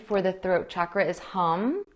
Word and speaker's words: Hum: And a Sanskrit mantra that I would recommend for the throat chakra is Hum. It's spelled H-A-M.